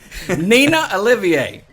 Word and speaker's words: Nena Olivier: Nena Olivier.